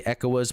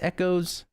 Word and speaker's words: ECOAS: I know in Unicorn in the dub they say ECOAS, but I have been corrected multiple occasions that it's Echoes. I don't know. That's news to me. I've not heard that pronunciation, but this is what's cool about this suit.